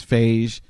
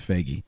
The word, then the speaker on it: Feige: I thought it was Phage. Donnie Yeah. thought it was Phage. You know, it's Feige.